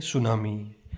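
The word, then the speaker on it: tsunami: सुनामी। तो सुनामी टी से शुरू होता है। टी एस यू एन ए एम आई T silent रहता है इसमें।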